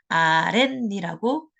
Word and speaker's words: 아랫니: 1강과 1단 관련이 있고요 발음을 해보면 아렌이라고 발음이납니다 그렇기 때문에 얘는 어떻게 해야 되느냐 제 38회 1-2번 순 우리말과 우리말로 된 합성어에서 한 마리 모음으로 끝났을 때 뒷발에 젖소린 니은이나 미음 앞에서 니은 소리가 덧나고 있어요 그래서 제 30판에 1-2번에 해당되고요 발음은 아랫니라고 니은이 덧붙여서 나는 발음이 맞고요 표기는 최종적으로 사이시옷을 넣어